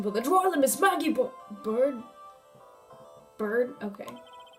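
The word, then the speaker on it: Byrde: Gorgeous now insertion for the drawer, Miss Maggie Bird? Bird? Okay. I remember I used to pronounce it Byard.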